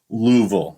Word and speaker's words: Louisville: and uh we've already made some friends in Louisville our podcast has and yes I'm saying it wrong I know it's Louisville not Louisville I'm aware I'm from Michigan I